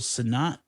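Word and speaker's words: Sennott: is it uh Rachel son I can never pronounce her name oh yeah Rachel yeah it's like senate or yeah she's really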